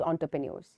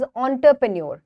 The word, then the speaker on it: entrepreneur: study in detail about एंटरप्रेन्योर्स very good so this word इस इट इस नॉट एंटरप्रेन्योर इट इस onterpuneer सो इट इसे pronounced